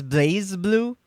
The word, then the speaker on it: BlazBlue: Oh, do you mean pronouncing as Blaze Blue? I've heard people say either or. I've just gotten very used to calling it BlazBlue because if it was Blaze, there'd be an E after that Z, wouldn't there?